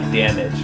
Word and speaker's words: Damnage: No, and I really, I think that's, again, like I get, with, Damnage. Am I saying that right? Damnage? I actually just call it like Damage, like I don't know.